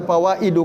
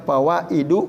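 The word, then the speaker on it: فوائد: wafil istizani fawaidu katsiratun Kenapa dibaca fawaidu kasiratun kok dalnya enggak tanwin karena itu jamak muntahal jumu sigohnya ya bentuknya dan dia adalah Isim ghairu munsorif tidak bisa tanwin Jadi dibacanya fawaidu katsiratun ya apa faedah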